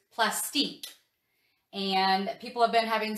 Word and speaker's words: Plastiq: about i'm pretty sure the way you pronounce it is plastic and people have been